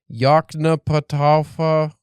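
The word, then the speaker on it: Yoknapatawpha: So, um I actually looked up a video of Faulner pronouncing this. This is his madeup town or city or whatever in Mississippi. Yakna Pata. Yeah.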